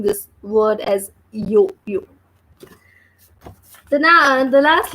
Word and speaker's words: yo-yo: And here the spelling is Y-O-Y-O. So we are pronouncing this as yo-yo.